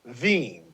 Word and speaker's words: Wien: the name of places Vienna is actually w-i-e-n pronounced veeam sorry then they have the Venus schnitzel but